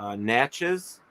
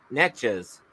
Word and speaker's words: Natchez: Natchez, maybe. And N-M-S, N-A-T, like Natch, and then E-Z, Natchez.